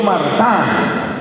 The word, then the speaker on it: Martin: Niño Jesús de apellido Mart que eso se escribe Martin pero se pronuncia en francés Mart Luis y ahora se